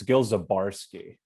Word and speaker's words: Gil Zabarsky: made michael i hate to interrupt you it's gil zabarski oh sorry sorry i just want to start